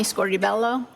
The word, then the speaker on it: Scordi-Bello: name for the jury my name is scor Bello my last name is spelled s c o r d i hyphen